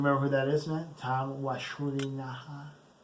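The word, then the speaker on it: Tom Wlaschiha: Tom Walashuliha. That's how you pronounce his name, by the way.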